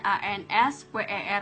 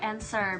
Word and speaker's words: answer: kayak gimana misalkan and answer answer itu kan beda Tulisannya a n s w e r Tapi bacanya itu answer bukan answer gua tuh sambil kayak